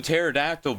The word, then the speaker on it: pterodactyl: Which also makes the Pasinchik psychic thing even more embarrassing for me, because I knew pterodactyl began with a P. I knew that P was silent.